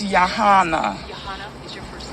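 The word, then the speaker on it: Yahanna: first name I didn't catch it I it's yahana Yana is your first name thank you ma'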